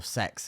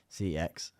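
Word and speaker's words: CeX: and there wasn't really CX or sex as it is pronounced but no one does c ex um it's just I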